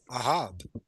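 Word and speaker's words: אהב: can somebody tell me how do you say love in Hebrew? Aav. There you go. We aav. This is how you say it.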